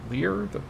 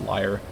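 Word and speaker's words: lyre: scheme and the liar Lear the instrument I don't know exactly how you say I think it's pronounced liar now with some text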